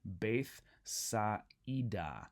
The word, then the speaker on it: Bethsaida: That's telling us that the alpha iota is not a diphthong. Instead, we need to pronounce both of those vowels individually, right? So that's why I'm saying Bethsaida.